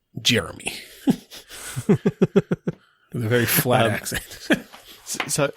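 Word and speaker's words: Ger'me: like that um well it's spelled g e r apostrophe me but it is pronounced Jeremy a very FL ACC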